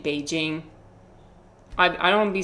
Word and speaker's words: Beijing: Like I don't be saying that Beijing. I be saying Beijing.